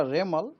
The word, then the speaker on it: Remal: उनको नाम होगा रेमल रेमल प्रोनाउंस होगा रेमल उसका स्पेलिंग आ आड